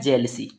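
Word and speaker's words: jealousy: ठीक है, यहाँ पर इसका उच्चारण होता है जेलसी। क्या पढ़ते हैं, जेलसी पढ़ते हैं।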